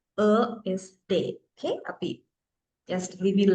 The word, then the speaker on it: ÖSD: තමයි මේක pronounce කරනකොට OSD නෙවෙයි. මේක German pronunciation එක ESD.